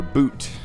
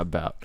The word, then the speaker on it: Bout: his last name uh b-o-u-t uh but it is boot it's not about I do like uh